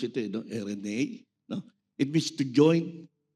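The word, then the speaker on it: εἰρήνη: Peace, which is from the Greek word RNA. Pinakinggan ko patris ako sa Google kung paano i-pronounce ito. No? RNA.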